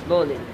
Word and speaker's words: bowline: So it's spelled as bowline but pronounced as bowline.